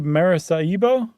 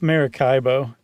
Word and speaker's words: Maracaibo: I'm going to say Maracaibo? Maracaibo? Okay. What do you think? I was going to say Maracaibo, but I don't know if that's a hard C or a soft C.